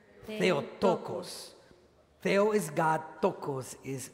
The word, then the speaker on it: Theotokos: In Greek, the title Mother of God is pronounced like this. Please repeat after me. Theotokos. Theotokos.